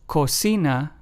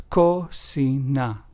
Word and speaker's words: cocina: Claro, which means clear in Spanish, is pronounced as claro. And cocina, which means kitchen in Spanish, is pronounced as cocina.